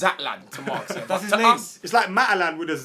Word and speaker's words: Zlatan: the way Mark says Zlatan this season. Yeah. Zlatan, bro. Okay, cool. So it's Zlatan to Mark. Yeah. That's his to name. us, It's like Matalan with a Z to you.